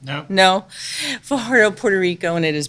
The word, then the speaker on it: Fajardo: am recording live from Fajardo, which I keep saying wrong. I'm supposed to roll my R, they say, with it. Do you know how to say it right? No. No? Fajardo, Puerto Rico, and it is beautiful here.